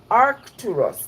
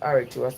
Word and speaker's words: Arcturus: of the sea which make it aritus Arcturus not aritus Arcturus and that was what